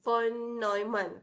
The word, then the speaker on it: von Neumann: Pronunciation is von Neumann.